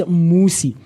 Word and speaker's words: Musi: You know, my name for that is that my name is Musi and a lot of people tend to mispronounce it and misspell it as well.